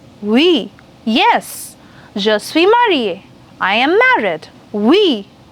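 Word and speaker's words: oui: yes I am married we it's not we it's we very good we just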